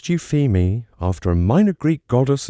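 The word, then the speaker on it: Euphemie: In 2003, a team of astronomers led by Scott Shepard discovered a small faint moon orbiting Jupiter, they named it Eupam, pronounced Euphemi after a minor Greek goddess associated with good omens and praise.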